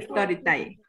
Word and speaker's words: Storytelling: Pero se pronuncia Storytelling.